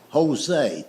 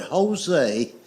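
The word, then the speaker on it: José: It's like the word Jose. The word Jose is J O S E, but it's pronounced with a H.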